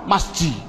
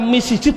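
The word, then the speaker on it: مسجد: Masjid. Mengapa kok dibaca masjid? Mbok dibaca misjid saja.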